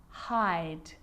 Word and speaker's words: hide: So hid, I, becomes hide, I.